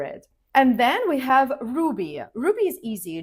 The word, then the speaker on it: Ruby: And then we have Ruby. Ruby is easy, just like the gemstone. Ruby. It's clear and simple. Ruby. Repeat after me.